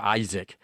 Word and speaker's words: Isaac: 자, 발음 Isaac이라고 한다고 그랬죠. Isaac.